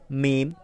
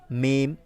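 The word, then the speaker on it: ميم: মিম মিম মিম হরফটি আমরা দেখতে পাচ্ছি ঠোঁট থেকে উচ্চারিত হবে।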